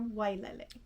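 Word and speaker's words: wailele: waterfall in hawaiian is vilele it's also acceptable to pronounce it so the w can be pronounced as a wah or so vi le or wai lele oh okay i see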